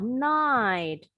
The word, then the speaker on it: night: Huruf GH, beberapa kali Miss bilang nih, GH-nya silent. For example, in the word, contoh, night. GH-nya silent.